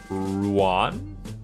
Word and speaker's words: Ruan: large pack like that I would pronounce the a like Juan Ruan makes it sound less like ruined Ruan I guess yeah